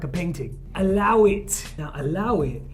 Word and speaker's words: allow it: Now, allow it, you actually pronounce it without the A, so you just say Allow it.